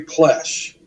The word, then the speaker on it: Plesce: Nick's film, um, and somehow I learned about this guy named Barry Plesh. I've told you about before. Yeah. Plesce is how his last name is spelled.